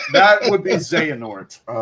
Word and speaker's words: Xehanort: I can't even pronounce that word. Xort. That would be Xehanort, my friend. His name is Xanort.